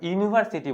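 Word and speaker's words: university: जाएगा ठीक है ना इसका उच्चारण करिए क्या हो जाता है यूनिवर्सिटी बोलते हैं यूनिवर्सिटी देख रहे हैं ना यू आ रहा यू यानी य आ रहा है य तो य क्या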